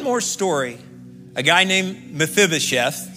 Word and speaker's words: Mephibosheth: blessing and one more story a guy named mephibosheth say mephibosheth all right one day the bible